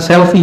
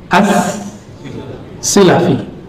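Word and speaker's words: as-Silafi: berpindah lagi ke ini bacanya bukan selfie ya Abu thaahir Ahmad bin Muhammad bin Ibrahim asselfie bukan Bacanya apa ASI asilafi bukan asalafi as silafi ini seperti Syekh Yasim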